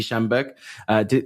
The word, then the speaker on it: Schanberg: Shannonberg. Sydney Shannonberg or Scheinberg. Sydney Schanberg.